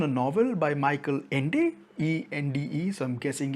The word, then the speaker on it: Ende: Firstly, it's based on a novel by Michael Ende, E-N-D-E, so I'm guessing it's pronounced Ende.